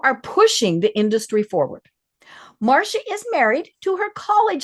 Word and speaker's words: Marcia: And you just said it's like the Brady Bunch. And of course, in my head, and it's been stuck there now for days, is Marcia, Marcia, Marcia.